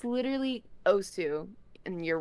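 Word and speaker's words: osu!: mispronounced Osu, dude. It's literally how the announcer says it. It's literally Osu, and you're wrong.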